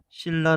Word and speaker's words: 신라: 형태인 신과 올라가 있고 얘를 발음하면 우리는 신라 라고 발음합니다 그럼 기본 형태에서 발음 하는 과정에서 변한 걸 보면 기본 형태의 존재하는 시내에는 니은 2 릴로 바뀌었다는 걸 알 수가 있습니다 눈 면도 나타났는데 여기에선